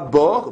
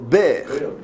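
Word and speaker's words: באר: Comme pour faire, non, pas bord, ber.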